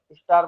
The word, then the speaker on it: Z: इसको करेंगे सेट। ये क्या हो जाएगा? सेट। हल्का सा इसमें भी टी साउंड आएगा, बट ये क्या हो जाएगा?